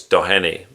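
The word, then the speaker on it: Doheny: It's It's spelled Downey, but I think it's Dohenny.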